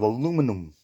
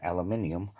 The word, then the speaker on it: aluminium: This is made out of aluminum. Or the correct pronunciation, aluminium.